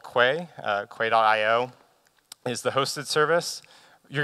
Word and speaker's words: Quay: I know that Quay is not the way you pronounce that word. That's how we pronounce it at CoreOS.